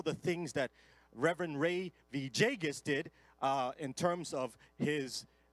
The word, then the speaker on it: Villegas: We're going to have the Reverend Ray Villegas, that's how you pronounce it, Villegas, come and minister to us in the Word.